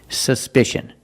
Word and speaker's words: suspicion: look at this word suspicion in this word the c is pronounced with the sh sound like in fish or wish sh sh there's no voice it's a soft sound sh sh together suspicion suspicion the first syllable